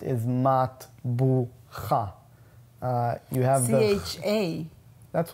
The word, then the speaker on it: matbucha: The way it's pronounced is matbucha.